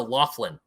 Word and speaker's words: Laughlin: southern tip of Nevada called Laughlin. It's like baby's waffle time. Yeah, it's waffle, like as in the food you eat. Waffle. No, Laughlin. Oh, Wafflin.